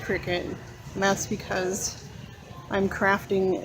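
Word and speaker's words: Cricut: I always call this cry cut, but it's actually pronounced cricket.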